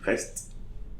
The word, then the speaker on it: reste: So we say reste. So I'm pronouncing the last consonant but not the E.